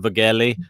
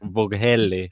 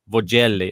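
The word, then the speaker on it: Vögele: get the pronunciation right i keep calling it virgelli i think it's vogelli or vogeli no bugelli i think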